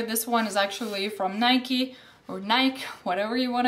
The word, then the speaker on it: Nike: another bag from Nike we say it's Nike and a lot of Europeans do I know Americans say Nike because that's the correct way of saying it but we're just used to saying Nike so I got a